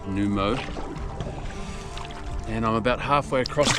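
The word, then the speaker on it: Numao: N U M A O. I think that's pronounced Numo.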